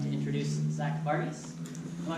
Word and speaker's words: Varghese: So without further ado, I'd like to introduce Zack Varghese. Am I pronouncing your last name correctly? Yeah. All right, Zack Varghese.